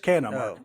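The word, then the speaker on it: Canha: It's just Cana. It's Mark Cana.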